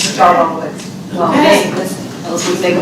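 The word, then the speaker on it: D'Arbonne Woods: Can I correct you with Darbon Woods? That's my area, but I have issues there all the time. I gotta say it right. Darbon Woods.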